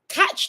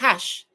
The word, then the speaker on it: Cash: Is it pronounced Cat? Oh, it's pronounced Cash.